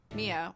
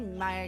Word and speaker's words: Mia: Mia. Why? Yeah. Mia. How did you know Maya Fey? Did I say Maya again?